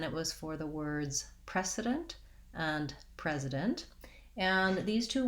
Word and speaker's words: precedent: which is which because the main difference is simply voicing and also because the spelling isn't very straightforward so the voiceless sound spelled with c the voiced z sound spelled with s the only other difference